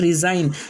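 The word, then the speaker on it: resign: जैसे पहला वर्ड है फॉरेन, पहला वर्ड फॉरेन, दूसरा वर्ड साइन, तीसरा वर्ड रिज़ाइन, चौथा वर्ड अलाइनमेंट, फिर उसके बाद में पाँचवा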